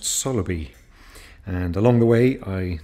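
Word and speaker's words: Saltfleetby: on the 28th of February I walked to softly B which I found out is actually pronounced Sala B and along the way I needed a pit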